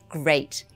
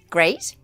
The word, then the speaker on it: great: with is pronounced as great let's now say it with the choices and see which rhyme great meet great plate great treat there we are question answered great rhymes with plate and finding the right